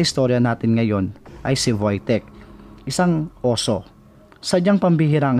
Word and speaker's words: Wojtek: Ang bida sa istorya natin ngayon ay si Voytek, isang oso. Sadyang pambihira ang istorya ni Voytek. At yan ang aalamin natin ngayon. W-O-J-T-E-K ang spelling ng pangalan ni Wojtek. Pero base sa ating research, Wojtek ang pronunciation.